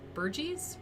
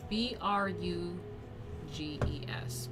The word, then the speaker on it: Bruges: major source of burgundian wealth and power was burgies berkeys the city that made burgundy a dangerous rival of royal france burgies burgess oh god i have to look it up